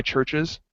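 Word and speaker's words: Chvrches: What We Believe by Churches I think it's how you say it it's churches spelled with the yeah weires yeah virches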